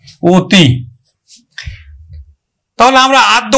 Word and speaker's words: অতি: অতি, স্বরেয় তয় রস্বই, কিন্তু আমরা উচ্চারণ করব ও তয় রস্বই তি, অতি।